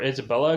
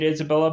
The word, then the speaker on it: Isabella: actually Isabella all along, and they pronounced it Isabella, but I've been calling her Isabel this whole entire 5 episodes, so mistakes were made.